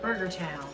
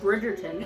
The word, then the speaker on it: Bridgerton: it do it previously on So, Burger Town? No, they know it's Netflix. Eventually, I will pronounce it right, you guys. Bridgerton.